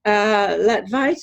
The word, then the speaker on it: Latvaitis: And his assistant or intern for the summer or something, whose name is Jamie Latvaitis.